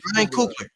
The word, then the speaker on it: Ryan Coogler: Yeah, Ryan Coogler.